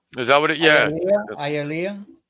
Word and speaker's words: Hialeah: It's Hialeah, not Hialeah. Is that what it? Yeah. Hialeah.